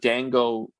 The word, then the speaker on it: Daan Go: We actually went to a place called Dan Go, and Dan is spelled DAAN, and Go Go. yeah, Um, 3 and the reason we locations, right?